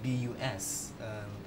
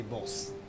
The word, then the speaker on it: bus: For example, if I'm going to say the word B-U-S, as in bus, which is actually the proper pronunciation, a lot of people would use the sound for letter U and actually change it to O for the letter O and say boss.